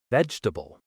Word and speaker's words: vegetable: Word number two, vegetable. This one's similar. Learners often say veull all four parts, but native speakers say vegetable shorter, smoother.